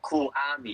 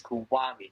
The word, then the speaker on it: Kuwami: No, it's not Kuwami. It's Kuwami. There's a W. It's 3 syllables.